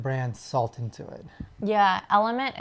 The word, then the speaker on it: LMNT: Yeah, Element is spelled LMNT, so it's Element without the vowels in it.